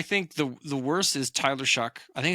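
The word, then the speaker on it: Shough: I think the worst is Tyler Shuck. I think it's how you pronounce his last name, even though it's spelt Show. Oh, they're saying it's Shuck.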